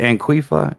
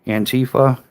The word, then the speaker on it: Antifa: the little anquifa and how do you say anquifa? Antifa.